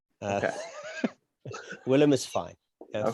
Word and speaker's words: Willem: Willem is fine. Okay. Think of the actor, Willem Dafoe. Willem.